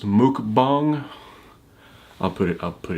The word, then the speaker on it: mukbang: word but it's I've I've heard it pronounced Mook bong I'll put it up